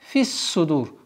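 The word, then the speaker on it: فِي الصُّدُورِ: وَحُصِّلَ مَا в размере двух огласовок ударения مَا فِل مَا, прошу прощения, مَا فِسُّدُور, солнечный звук сад فِسُّدُور, уходим с огласовки кесра на сад فِسُّدُور.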